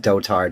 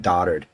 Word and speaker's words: dotard: I forget but yeah I like it pronounced dotard instead of daughtered because it makes you